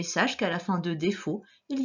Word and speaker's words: défaut: Il y avait un T à la fin de défaut, mais on ne l'entend pas.